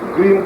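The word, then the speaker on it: क्रीं: क्रीम का मतलब है CREEM, ये क्रीम शब्द है जिसे आप सही उच्चारण कर सकते हैं।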